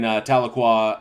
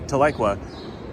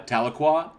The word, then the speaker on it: Tahlequah: sorry one more apology i understand that i mispronounced uh tahlequah a number of times this is because i grew up in southern california and every time i